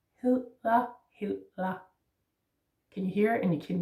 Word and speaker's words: hedder: So it's important that you don't make an L.